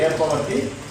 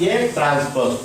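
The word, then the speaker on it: Aᵀ: That means don't say A power T. It is A transpose. We have to pronounce as A transpose.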